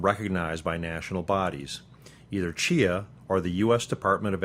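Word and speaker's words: CHEA: the Council on higher education accreditation pronounced Chia or the US Department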